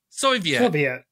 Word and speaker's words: Soviet: Soyvet? Soyvet. I can is that never like pronounce a hippie Soyvet? In the army? I can never pronounce Soviet. It correctly. Soviet. Yeah. So, not soy. Soviet.